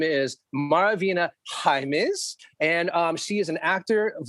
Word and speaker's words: Jaimes: Is it Jaimes or is it James? What's the proper way to say it? Yes. And so that you never forget again, it's Jaimes, yes. Like your Highness.